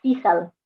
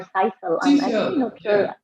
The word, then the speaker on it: sisal: are banana stem and seashell or sisal yes people pronounce it in two different ways yeah exactly so this